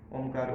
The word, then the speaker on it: ओम: ओ जो है ओ, ऊ और म तीनों से मिलकर बना है। तो सबसे पहले ओ को बोले, ओ ऊ में कन्वर्ट करें, ऊ को म में।